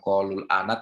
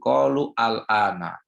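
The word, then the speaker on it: قالوا الآن: Jadi bacanya bukan qalul ana tapi qalu al-ana.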